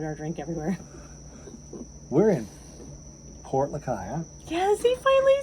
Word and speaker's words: Lucaya: and I poured our drink everywhere we're in Port Lucaya yes he finally said it right I'm so